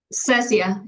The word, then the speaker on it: Cecia: Cecia, is that how you say it? Cecia, yes. Cecia.